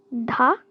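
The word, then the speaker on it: ㄷ: This is dha, dha, and this is ta, ta, ta, like a T sound.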